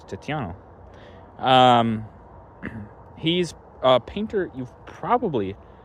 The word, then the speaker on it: Tiziano: In English, his name would actually be pronounced Titian, but he was Italian, so he's from Venice, more specifically. But so I'll say it by his Italian name, which is Tiziano.